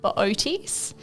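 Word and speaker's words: Boötes: Uh, I'd probably steer you towards the constellation called Booties. Booties. Booties. Yeah. So, it's How is that spelled? Oh, it's B O T E S. But you pronounce both O's, which is it's an odd one to say definitely.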